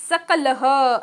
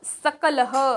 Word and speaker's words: सकलः: मूषकः सकलः सकलः स दंत स्पर्श होता है।